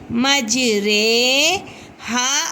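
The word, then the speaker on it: مجریها: ہے جس کو ہمیں اس را کو مجہول طریقے سے ادا کرنا ہے، کیونکہ یہ را امالہ والی رے ہے، اس کی ہجے بھی ایسے ہی ہوگی، میم جیم زبر مج، را امالہ والی رے، مج رے، ہا الف زبر ہا، مج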